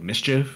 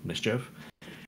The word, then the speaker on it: MSCHF: shoes company that he's done called looks like mischief it looks like it's it's spelled mschf mischief where they make these limited run versions of